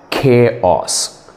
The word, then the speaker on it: chaos: sorry that's horrible you're sounding horrible the correct pronunciation is is chaos it's chaos tell me what is the correct